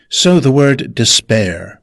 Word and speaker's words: despair: icon and then All DESPAIR Pronounced desPAIR with stress on the second syllable.